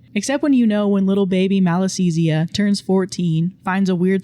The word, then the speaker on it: Malassezia: the middle of it, the first syllable being mal, meaning evil or bad.